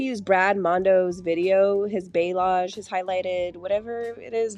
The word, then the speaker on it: balayage: Apparently it's pronounced Balayage.